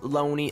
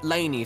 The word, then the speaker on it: Laney: weird you know uh loney i mean laney so sorry oh goodness it's okay he didn't even know my name he pronounced it like lonnie or lonnie me or something really weird you know honestly i'm